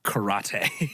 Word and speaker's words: Kurate: They call it kurate, which means cure yourself. It's pronounced karate.